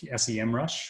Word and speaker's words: Semrush: one I would pick SEM rush or semrush depending on your your chosen pronounciation so these are tools